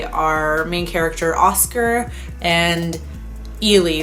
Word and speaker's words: Eli: main character Oscar and Ely. They pronounce it Ely in the movie. It looks like Ellie though, like E-L-I or Eli, I guess, but they pronounce it Ely.